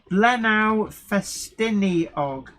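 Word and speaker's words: Blaenau Ffestiniog: correct to me he says jenny it's actually pronounced lenao festini og that sounds right because i didn't wonder where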